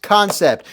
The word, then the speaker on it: Kansept: concept yes it's spelled concept but it is pronounced concept look it up I could verify this but